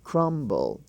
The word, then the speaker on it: crumble: you hear the bee crumb c aram c-u-r-m-b-crum but in the word crumble the bee is sounded crumble okay thumb he is